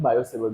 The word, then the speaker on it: Biot-Savart: ठीक है, ये टी साइलेंट होता है इसलिए हम लोग बायोसेफर्ट लॉ पढ़ते हैं इसको।